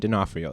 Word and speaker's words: D'Onofrio: robbie knott who is also how do you pronounce his name dinofrio there you go yeah vincent d'onofrio that's what we're talking about uh yeah so